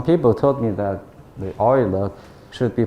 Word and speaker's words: Euler: ground equations some people told me that the Oilers should be pronounced as the Euler okay Yola is the English pronunciation but oil is more